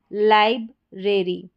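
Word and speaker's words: library: जैसे यहां पर है लाइब्रेरी।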